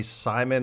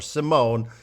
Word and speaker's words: Simon: His name is Ronny Simon or Simone. John and I think it should be Ronny Simone, but we also checked the pronunciation guide, and it seems to suggest that it's Ronny Simon.